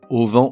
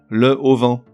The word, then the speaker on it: auvent: En revanche, pour une raison que j'ignore, on lui invente un H aspiré, qui n'existe pas, mais qui nous fait dire le plus souvent le au vent.